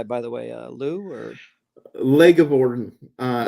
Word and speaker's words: LeGivorden: the way Lou or leg of Bon uh I usually go yeah leg of Bon or if you have trouble pronouncing it you can just call me leggy or or whatever